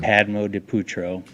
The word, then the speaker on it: Padmodipoetro: Padmo de Putro. Yes, and that's spelled Padmodipoetro.